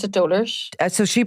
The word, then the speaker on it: Dolours: name she pronounced it doers so she pronounced it so they pronounced it correct on the because I always thought it was Dolores or whatever so it's anyway doar she pronounced doar yeah price but here